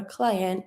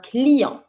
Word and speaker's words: client: Okay, so you know that a customer or client is un client. Don't pronounce the T, un client.